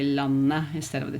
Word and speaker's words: landet: But I don't say the t at the end of the word. Instead, I would just say landet instead of the t,